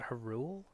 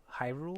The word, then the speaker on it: Hyrule: yep Piru Hyrule Haru I call it her rule Hyrule okay well you're wrong but you can call